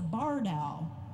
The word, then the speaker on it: barred owl: had heard, and he goes, oh, that's a barred owl. It's spelled B-A-R-R-E-D.